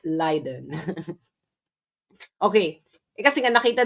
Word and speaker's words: Leiden: Actually iba-iba rin 'yung pronunciation ng Leiden. Yung mga taga Liden iba 'yung pronunciation nila ng Leiden. It's not Liden again, it's Liden. Liden Liden. Hindi po siya Layiden, it's Liden.